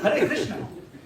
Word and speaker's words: Hare Krishna: No, it's Hare Krishna. Hey mama, mama, mama, hey, hey. No, Hare Rama, Hare Rama. Pronounce clearly.